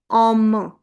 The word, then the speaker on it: homme: Coming towards the ash, it is as in uh ash me way, so we'll not pronounce it. Double syllable is there, so total Hindi sound will be coming, ma. And we'll put the whole pressure on ma because of the e at the end. So it becomes homme.